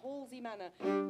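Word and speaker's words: Halsway Manor: Halsey Manor. It's spelled Halsway.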